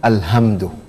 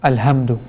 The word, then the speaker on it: الحمد: Rather than reading ha, okay, you read ha. So rather than pronouncing it from the back of the throat, you're pronouncing it from the bottom of the throat. Yes. Okay. And that's a mistake which a lot of people, they fall in it. They fall into it.